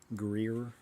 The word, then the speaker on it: Greer: Greer, that's how you say it.